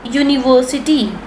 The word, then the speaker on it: university: The following words begin with vowel letters but are pronounced with consonant sounds. They thereby take a before them. They take a before them. For example, a university, a uniform, a European.